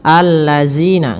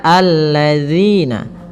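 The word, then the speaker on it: الذين: Kemudian pada lafal zina, hati-hati dalam melafalkan zalnya, jangan sampai kita membacanya dengan zina, allazina, enggak, tapi dia alladzina.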